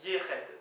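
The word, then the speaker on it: yec'hed: Y-E-C apostrophe H-E-D, mais qui se prononce Yered, voilà, semble-t-il.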